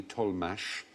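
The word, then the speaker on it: Tollemache: spell T o WL e ma CH e told mash there was the tol mashed ol mash family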